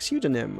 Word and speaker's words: pseudonym: You don't pronounce the P. It's like psychic, or I'm not thinking of many other words that begin with psychology. Yeah, like pseudonym or something.